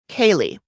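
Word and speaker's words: Caeleigh: her from behind wow so next we meet kaylee who her name is spelled in like the irish or scottish way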